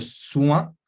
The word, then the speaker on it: soin: Después tenemos le soin, oin, cuidado, vamos a tener este sonido wa, que se escribe o-i, pero se pronuncia wa en francés, y tenemos una n